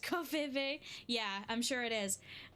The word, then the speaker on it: Ko-fi: So it's pronounced Kofive. Yeah, I'm sure it is. I'm gonna go with Kofi, because I think that's how you're supposed to pronounce it. I don't know. Because it's not coffee. It's Kofi.